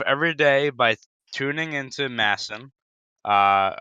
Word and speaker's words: MASN: day by tuning into Masson uh that's I know it's masn whatever it's you said it right yeah and watching that